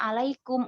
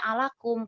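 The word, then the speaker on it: عليكم: bertemu dengan kum ala sama kum maka dibaca alaykum nggak dibaca alakum kayak bertemu dengan apalagi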